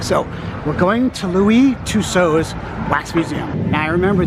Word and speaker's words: Tussaud: I looked it up before I came today, and the proper French pronunciation is Tuso. So, we're going to Louie Tuso's Wax Museum.